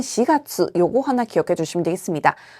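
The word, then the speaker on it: 四月: 4월은 시가수라고 하는데요. 시라고 읽히는 경우는 4월 정도 기억하시면 되겠습니다.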